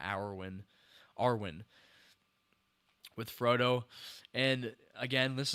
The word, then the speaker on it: Arwen: I'm saying her name wrong, I think. Arwen, not Arwen.